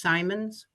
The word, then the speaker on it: Simons: I just wanted to uh say it again that my name is pronounced Simons like Simon's furniture but no relation.